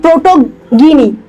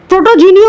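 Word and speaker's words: protogyny: বাবা এই দুটো টার্ম একটু খাতার উপর লিখতো, প্রোটেন্ড্রি অ্যান্ড প্রোটোগিনি। প্রোটোজিনিও অনেক সময় বলা হয়, অনেকে বলে, বাট প্রোটোগিনি is better, fungi, at least I pronounce like that.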